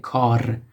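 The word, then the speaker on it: کار: You see, at the beginning we have a k or kaf, kar, kaf, alef, re, kar, which means work or it could be job or something like that.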